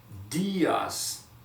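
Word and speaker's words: días: more time right here you see the accent on the eye that means that you have to make it last a little bit longer right so it goes like this diaz one more time diaz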